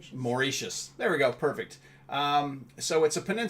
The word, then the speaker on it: Mauritius: So, I'm going to pronounce it the way I see it. It's Leourne. Uh, Brabbant. Mauricious. Mauritius.